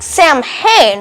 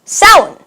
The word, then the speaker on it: Samhain: So that looks like Samhain, right? But it's actually pronounced Samhain.